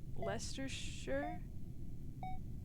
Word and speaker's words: Leicestershire: It's spelt Shire but sounds like Sure. Leicestershire?